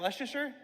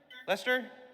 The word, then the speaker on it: Leicester: How do you say it? Is that Lucaser? Lester.